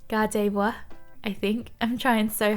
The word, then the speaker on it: Gardevoir: in on sure gardevoir so i'm pronouncing this completely wrong um my australian accent just says god of war i think the actual pronunciation is gardevoir i think i'm trying